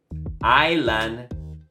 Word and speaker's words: island: no pronunciamos la t island donde no pronunciamos la s wok donde no pronunciamos